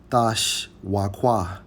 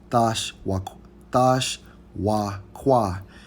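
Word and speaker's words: תשוקה: Hey, and when we go into the Hebrew term for desire in Genesis 3 and 16, it's Strong's H 8669, pronounced as Thash Wakwa. Thash Wakwa.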